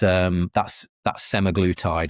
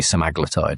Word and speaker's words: semaglutide: It's just GLP-1, so it's a single action, and that's semaglutide, also known, or semaglutide. People pronounce it as two different ways of saying it. I think it's supposed to be semaglutide, actually.